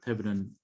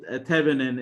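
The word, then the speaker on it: Thévenin: you need to represent your entire model for this Thevenin equivalent model.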